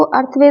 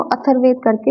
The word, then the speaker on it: अथर्ववेद: Normally इसको अर्थवेद बोला जाता, अर्थवेद बोलते हैं, लेकिन इसका जो प्रोनाउंसिएशन है वो अथर्ववेद करके होता है।